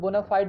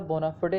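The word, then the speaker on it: bona fide: Next हमारा word है बोनाफिडे, है ना, इसको लोग बोनाफाइड भी पढ़ते, बट एग्जैक्ट प्रोनाउंसिएशन इसका बोनाफिडे है ना, बोनाफिडे।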